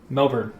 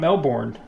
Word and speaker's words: Melbourne: Melbourne, not Melbourne. Melbourne, I've been told it's pronounced.